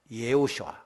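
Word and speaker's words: יְהוֹשֻׁעַ: 자, 이 예수라고 하는 말은 구약 히브리에서 보니까 예호슈아 그렇게 발음이 돼요.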